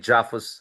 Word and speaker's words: JAFUS: I called it JAFUS so that it rhymes with AUKUS, and in many ways, it could be part of the kind of arguments you're raising there.